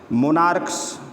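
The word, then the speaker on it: monarch: हो, ध्यान से समझेंगे, यदि किसी वर्ड के अंत में, कॉमन नाउन के अंत में सी एच हो, सी एच का उच्चारण का हो तो सिर्फ एस जोड़कर प्लूरल बनाया जाता है। जैसे मोनार्क्स, मोनार्क, मोनार्क्स, stomach, stomachs.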